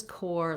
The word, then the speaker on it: Corps: Interestingly, this core and this core have the same pronunciation. So this is the core, like the center of something, and this is core like the Marine Corps. And so this P and this S are both silent.